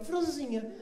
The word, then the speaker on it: francesinha: porto, vou comer uma francesinha. Primeiro que eles comem uma sílaba, aí eles falam, vou comer o quê? Franzinha.